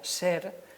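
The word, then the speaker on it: sr: s y una r como no sabemos la vocal que empleaban seguramente pues se pone una e y se pronuncia ser entonces la palabra ser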